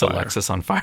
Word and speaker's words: Alexisonfire: no is on fire or alexis on it's alexis on fire because it actually says pronounced alexis on fire okay but is it